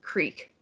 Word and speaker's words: creek: feature was producing uh Creek in a way that rhymes with seek as I just said Creek so when looking at